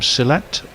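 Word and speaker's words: Sylhet: left armor he's from selette which I'm sure I probably missed pronounced this one's stroked away to cover silit yeah it was close like silit bang like John silit like John silit ex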